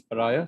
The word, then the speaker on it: pariah: So the correct pronunciation is pariah.